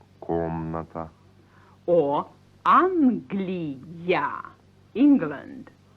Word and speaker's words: комната: Like komnata, a room, pronounced komnata.